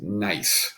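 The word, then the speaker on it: gneiss: rocks and stone and then this one here pronounced as nice this is a very common metamorphic rock so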